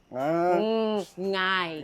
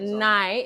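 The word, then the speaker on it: 𠊎: Ngai. Nine. Yeah. Yeah, back it up. So it's not nai, it's ngai. Ngai.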